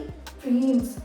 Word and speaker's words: dreams: तो जो final S है उसको आप कैसे प्रोनाउंस करेंगे? ड्रीम्स, ज, ड्रीम्स, ड्रीम्स, स नहीं, ड्रीम्स।